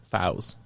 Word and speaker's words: Faust: Faust or Foes? Faust. Is that how they pronounce it? F-A-U-S? F-A-U-S.